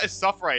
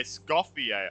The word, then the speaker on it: Escoffier: Oh, not Escoffier, Escoffier. Oh, okay, that makes sense. I wasn't saying the C. Wasn't pronouncing the C.